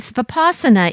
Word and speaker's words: Vipassana: So when you think about it, and Vipassana is the pronunciation I learned. So maybe you learned a different pronunciation, but that very word can help people who are familiar with yoga, because we all know the word asana, or a position. So Vipassana has a connection there with seeing reality as it